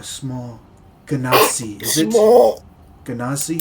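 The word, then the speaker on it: Genasi: Ganazi. Is that how I say it? Yes, that's how you say it.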